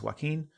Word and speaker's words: Joaquin: about it I'm like Jacqueline Phoenix that's not his name it's Joaquin all right like well